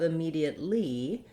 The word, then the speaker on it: immediately: when it's stressed so the letter e in this word says the me sound and it's held for a longer time because it's stressed in that syllable we do have another